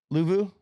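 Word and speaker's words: Luvu: that Frank lvo how do you say it louu louu my bad Frankie Frankie louu first year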